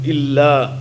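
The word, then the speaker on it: إلا: That lam of illa is very important, that shadda is pronounced openly and clearly, because it is la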